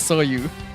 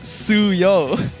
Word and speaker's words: Suyo: say his name as Soyu. How do you pronounce it? It's Suyo. It's U and then O.